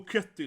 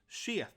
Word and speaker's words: Kjetil: So everyone in America, oh Ketil, you know, or Canute. But his name actually is Kjetil. You know, Kjetil, that K sound.